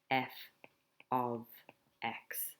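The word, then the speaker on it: f(x): when you're saying it what you say is f of x that's how you say it so that's f of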